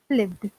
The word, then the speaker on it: lived: Whereas lived, my typing mistake, we don't pronounce the id. So we pronounce lived.